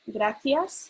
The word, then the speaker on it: gracias: only thing is that the c's and the z's i pronounce it instead of a s like they pronounce it so for example basic example would be gracias i pronounce it yes instead of so if you hear